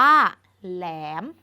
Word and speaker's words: แหลม: คำ นี้ อ่าน ว่า แหลม แหลม คำ ว่า แหลม เป็น หอ นำ เช่น กัน เกิด จาก ห ล แหลม ห ล แหลม คำ